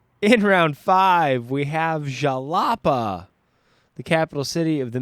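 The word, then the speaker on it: Xalapa: to pronounce here uh zapa x a l a PA a of course uh also known though as harapa spelled uh with a J in place of that x uh it's the capital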